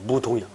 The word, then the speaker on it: 무동: 무등이 아니고 무동이야. 원래. 그 무동 이렇게 발음하기 힘드니까 무등 이란다고. 원래 무동이야.